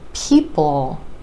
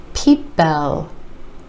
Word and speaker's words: people: back to the word people a lot of non-native speakers will pronounce this word Pipo Pipo and what's happening is there's a short e sound sneaking in right before the dark l peep-bo the way to